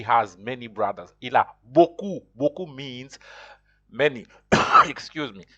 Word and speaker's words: beaucoup: Beaucoup. You pronounce. Is pronounced beaucoup. You don't pronounce the P at that.